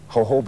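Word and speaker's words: jojoba: I'd never heard of hoba oil with us now is Dr Carol Whitaker a PhD chemist and one of the world's foremost experts on hoba oil and that's Joo Joo that's the Spanish pronunciation ation doctor welcome and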